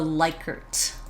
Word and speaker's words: Likert: So the Likert.